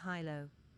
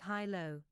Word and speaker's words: Hylo: NPC or PC pronounces hyo. If the characters pronounce it hy low like most people from abanancia are apt to do, Astred makes a face and so does Pez and she starts giggling.